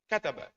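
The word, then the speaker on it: كَتَبَ: Kalimah atau lafaz yang hanya 3 huruf, itu nabernya di huruf pertama. Contoh kataba, itu bacanya kataba. Hadara, ngoten niku. Nek naberi enggak di awal, nanti ono tawalute nyeret titik. Kataba, hadar, salah. Jadi pokok saben kalimat 3 huruf, huruf awal langsung ditekan.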